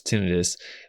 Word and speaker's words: tinnitus: for those who have tinnitus which we also pronounce tinnitus then there are some